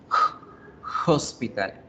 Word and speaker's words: hospital: cuál es el sonido de una h es el sonido que nosotros hacemos en español de una jota hospital a hospital a hospital